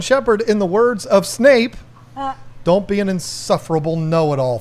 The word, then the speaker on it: Snape: said I used to call Professor Snape Professor snipe oh because if you hear the British accent snipe it sounds like snipe it does kind of so it took me a long time to remember it's Snape snap it's pronounced pleco yeah see type that